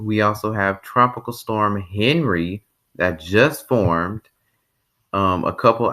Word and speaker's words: Henri: I said Henry, my bad. It's Henri, Enri. You pronounce it Henri, not Henry. It looks like Henry, but it's Henri.